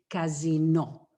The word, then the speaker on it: casino: But Sanremo is also famous for the, what you say, casino, which is the same word spelled the same way, but we say casino.